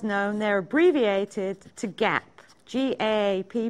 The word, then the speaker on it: GAAP: And they're otherwise known, they're abbreviated to GAAP, G-A-A-P, pronounced GAAP.